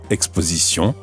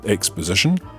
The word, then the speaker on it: exposition: Try to stick to the French pronunciation and say exposition and not exposition, retransmission and not retransmission, and animation and not animation.